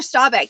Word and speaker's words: Staubach: I do this but I mispronounce his last name all the time it's actually a Roger Staubach he played a career